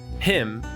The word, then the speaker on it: Pymn: It's Pymn.